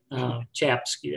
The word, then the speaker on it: Czapski: So Czapski, that's pronounced anyway.